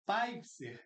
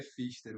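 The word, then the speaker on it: Pfister: E a nossa estrela de hoje, Henrique Paipser. Assim mesmo pronuncia, Henrique? Não. Me ajude então, por favor. É Fister, o Femus. Fister, muito bom.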